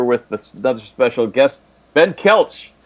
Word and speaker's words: Koelsch: pronouncing your name wrong i've been saying and it's so we were cheered